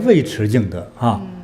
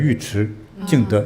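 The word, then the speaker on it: 尉遲敬德: यु ची जिंगदे था जिसका नाम "वेई ची जिंगदे" के रूप में भी उच्चारित किया जाता है हालांकि, उसके नाम का सही उच्चारण यु ची जिंगदे है जिन्हें यु ची गोंग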